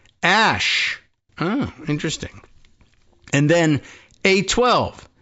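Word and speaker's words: Æ: It's just X, the letter X, and then the AE is pronounced Ash.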